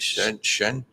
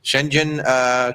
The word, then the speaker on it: Schengen: Schengen? Yeah. Schengen countries.